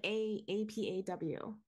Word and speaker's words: apaw: Like A-P-A-W.